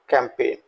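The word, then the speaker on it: campaign: कैंपेन यहां जी letter को मैंने रेड कलर से दिखाया है तो जी का हम प्रोनंसिएशन नहीं करेंगे और इसको बोलेंगे कैंपेन अगला वर्ड है ट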